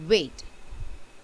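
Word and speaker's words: weight: But some people say my hair is wet instead of saying wet. Okay? So if there are slight pronunciation errors like this, then you might get confused. Otherwise the answer is W-E-I-G-H-T, wait, and W-A-I-T, wait are homophones.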